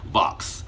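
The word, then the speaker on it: Vauhxx: A black man named, it's a weird spelling name, V-A-U-H-X-S. No, V-A-U-H-X-X. Yes, that's how his name is spelled. Vox.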